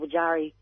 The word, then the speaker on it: Wajari: You call it Wajak country, but it's really called Wajari. That's the people. Wajari, it's not Wajak, it's Wajari.